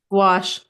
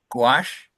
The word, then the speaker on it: gouache: on paper and G is that pronounced go gouache gouache I work in a